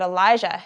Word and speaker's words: Elijah: If you look at the words, you can see that Elijah, who went to Mount Carmel for the fire setup, is spelt like this, with a zh sound. And Elisha, that comes into the story today, is spelt like this, with a sh sound.